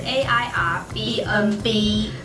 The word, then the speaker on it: Airbnb: 它其实是一个缩写，就是后面的 BNB 是 Bed and Breakfast，就是大家说的民宿，所以其实这个 APP 应该念成 AirBnB。 Airbnb，它那个 N 就是 and 的意思，所以就是 Airbnb。